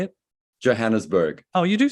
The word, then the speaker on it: Johannesburg: Johannesburg.